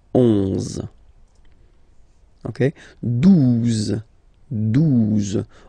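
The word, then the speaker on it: douze: exist phonetically, 11, okay, 12, 12, O, U, the two together will give you the sound OO, okay, and then Z, 12, 12, alright.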